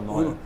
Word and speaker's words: Neuer: ele teve uma atuação do Neuer, né? Tá certa a pronúncia? Tá, Manuel Neuer.